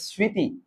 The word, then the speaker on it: স্মৃতি: তাহলে ম ফলাটা কি থাকবে? অনুচ্চারিত। অনুচ্চারিত। কিন্তু চন্দ্রবিন্দু যুক্ত হবে। ম ফলাটা কি করবে? নাকে তৈরি করে দিবে। নাসিক্য করবে। তাহলে সেক্ষেত্রে এটার উচ্চারণটা কি হবে? আশানুনাসিক হবে।